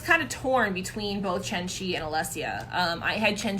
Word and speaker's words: Chen Qi: And again, I figured out how to pronounce Chen Qi's name. It's Chen Qi, not Chen Kui. It's Chen Qi.